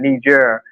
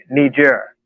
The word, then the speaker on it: Niger: And the same thing has happened in Niger, where the United States has 1,100 troops there, and France has been basically kicked out.